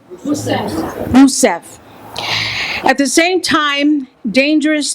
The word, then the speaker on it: Rousseff: Rousseff.